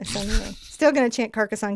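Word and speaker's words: Sennelier: The R is silent. That's right. I did it correctly. Senlier.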